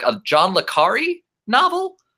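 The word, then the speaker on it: le Carré: See, I try to pronounce myself. Did I say that wrong? What is it? Admittedly, so John le Carre.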